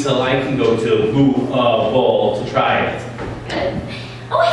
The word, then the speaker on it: Louisville: Louisville. Louisville.